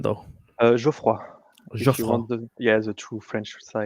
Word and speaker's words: Geoffroy: How do you pronounce your first name, though? Geoffroy. If you Geoffroy. want the true French side, but you Geoffroy. can say Geoff.